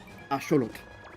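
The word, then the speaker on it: axolotl: I mean, it's based on axelottle, so that makes sense. I apologize. I I should be pronouncing axelottle the appropriate way, which is the naw way, which is asholot.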